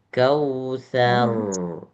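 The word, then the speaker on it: الكوثر: Bukan kal kausar. Salah. Kal kausar. Jadi dibulatkan. Roknya jadi bulat. Ini huruf sa, bukan sya.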